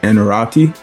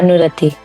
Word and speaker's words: Anurati: Um, your name pronunciation is it Anorati? Yeah, Anurati. Anor and O. It's a oo.